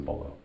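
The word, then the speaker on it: Beaulieu: what I'm talking about Cory Bullu but just pronounces bolo Trivia to me is just it's everything besides my family and and friends.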